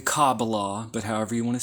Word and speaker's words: Kabbalah: As many people pronounce it in the West, the Kabbalah. I like to say Kabbalah, okay? Which is how a lot of people do it in Jewish circles, the Kabbalah.